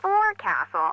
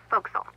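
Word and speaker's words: forecastle: ship, but it's pronounced folks. Why is that? Try pronouncing it like an English sailor with no formal education.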